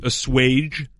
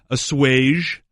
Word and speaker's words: assuage: Number 1, and this is the most common, is assuage with a hard J. Yeah. Okay. Number 2, assuage. Assuage. Ooh, with a soft G almost.